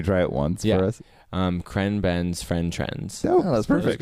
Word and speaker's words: ChrenBen's: ChrenBen's Friend Trends.